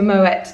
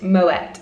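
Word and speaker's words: Moët: moe or is it moet and they confirmed that even though um obviously champagne is in france i believe it's actually a swiss brand so um you do pronounce the t you are within your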